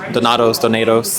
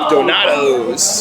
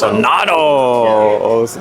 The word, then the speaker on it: Donatos: But back to Donatos. I still can't pronounce Donatos. Do not say Donato. Yeah, I feel like I've heard it on radio ads. It's like Donatos. Donatos.